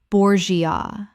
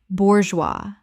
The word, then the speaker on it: bourgeois: Bourgeois. Correct pronunciation. Bourgeois. 2 syllables. The G makes a Z sound and the S is completely silent.